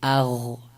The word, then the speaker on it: غ: یه کمی ادامه داره اغ اغ نباید بشه اق به این حالت نباید باشه چون اگر این حالت تلفظ بکنیم دیگه در واقع آمدیم و قاف رو تلفظ کردیم خب حالا مثالش با